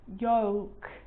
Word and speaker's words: yolk: Cold, yolk. So this makes it easier in these words where L is really difficult to pronounce. Then it's silent.